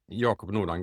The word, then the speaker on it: Jacob Nordangård: So, for the listeners uh who don't already know your work, uh Yakam Nord, is that how I pronounce it? Yok Nordon Good.